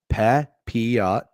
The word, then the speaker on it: Pepiot: Papiot.